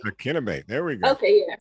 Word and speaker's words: Akinnagbe: Akinnagbe. Akinnagbe. There we go. Okay, yeah. See, I got to work on my pronunciation, but nonetheless, here we go.